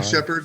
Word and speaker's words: Sheppard: Yeah, shepherd, like shepherd dog, shepherd, sheep herder.